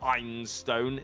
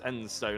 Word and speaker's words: Enstone: Apparently I've been saying it wrong this entire time. It's not Einstone, it's Enstone.